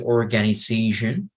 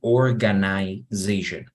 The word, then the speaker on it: organization: Okay, here we have, means students give money to an here you have two ways to pronounce it. You can say organization, pero también se pronuncia organization, ¿ok?